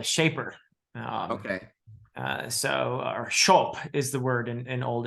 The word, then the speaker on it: scop: written as cop but the SC in Old English is a sh sound so it's show um which means shaper